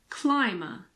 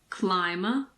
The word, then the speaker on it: climber: the B isn't there occasionally the B is silent after an m in the middle of a word for example in climber and plumber climber plumber when MB is